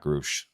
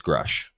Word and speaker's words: Grusch: How do you pronounce David Grusch's name? Is it Groosh like Lou says it or do you say it right? Jason, what's up, Jason? Um it is Grusch. Not Groosh.